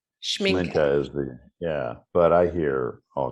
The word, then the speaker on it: Schmincke: It's a German name, which doesn't translate into English very well. It's Schmincke. Schmincke is but I hear all kind of.